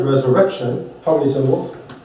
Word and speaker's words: resurrection: a specific place so the word Resurrection Resurrection so and where is it accented Resurrection on the third because I'm doing it